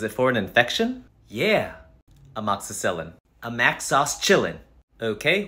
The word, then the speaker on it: amoxicillin: my dentist gave me a Mac sauce chilling for my tooth a Mac sauce was it for an infection yeah amoxicillin a Mac sauce Chillin